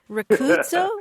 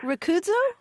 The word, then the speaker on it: Rudo: this my name is rudo I'm calling from Dallas Texas rudo rudo Yes actually yes that's a southern African I'm from Zimbabwe yes and you pronounced it right here oh did I